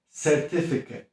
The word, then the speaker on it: certificate: Certificate. Powtórz. Certificate. Ta końcówka jest najważniejsza, żeby ją tak tam zakręcić i krótko przeczytać.